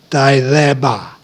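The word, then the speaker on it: Thelema: you might call felima that's t h e l e m a the actual pronunciation if you really want to be cool about it and show your knowledge is actually day thereby now for labor or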